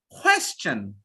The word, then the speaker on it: question: What we say in India, we say just the opposite. What is your question? What is your question? Do we say that? Yes, tell me honestly. 90% will say, what is your question? Is that even a pronunciation?